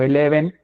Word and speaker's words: Elheven: se nos hacía chido que la gente se peleara con la pronunciación del nombre de la Banda era muy interesante para nosotros Porque tampoco queríamos un significado tan literal incluso casi nunca llegábamos a decir ah somos leves no somos Eleven no solo tocábamos y